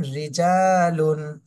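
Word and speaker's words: رِجَالٌ: হবে যেমন রসুলুন রসুলুন রচে যদি জের থাকে র চিকন করে পড়তে হবে যেমন রিজালুন এরপরে র সাকিন ডানে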